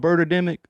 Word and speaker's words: Birdemic: I saying it right is it a movie called birdemic bird like a bird I might be I